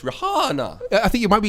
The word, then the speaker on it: Rihanna: I think it's pronounced Rihanna. I think you might be exactly on them. Did you just touch him with it? Is that why he made that noise? Can you say No, it's Rihanna.